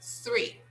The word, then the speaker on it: three: three three three yes we put the tongue in the middle of the mouth and we release some air so we say three three and here ten